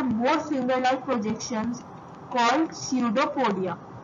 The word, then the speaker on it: pseudopodia: So basically इसमें जो पी है ये साइलेंट होता है। सो अगर हम इस पी को स्किप कर दें और अगर हम इसको डिवाइड करें तो ये होगा स्यूडोपोडिया, ये होगा स्यूडोपोडिया। इसमें पी साइलेंट होता है, पी को नहीं कंसिडर करते, ठीक है।